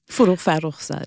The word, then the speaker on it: Farrokhzad: And in one of the poems, I'm going to skip now to, you'll tell me if I'm pronouncing it completely wrong, Farrokhzad? Farrokhzad. I almost got it right.